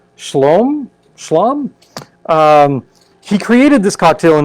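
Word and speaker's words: Scialom: mispronounce his name badly last name is s-c-i-l-o-m shalom he created this cocktail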